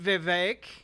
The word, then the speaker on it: Vivek: I wonder who's responsible for the wages remaining stagnant, Vivek. Rhymes with cake.